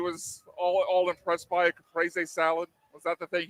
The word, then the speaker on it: caprese: I thought it was caprese. Okay. No, my wife put me on caprese salads.